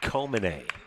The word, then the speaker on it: Komine: Tough one for Rutgers would be Caden Komine out of Hawaii. It's spelled K-O-M-I-N-E. Makes you want to say Comine. Indeed, it is Komine.